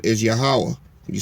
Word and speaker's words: Yahweh: name is not god his real name is yahweh can you spell that y a h a h w a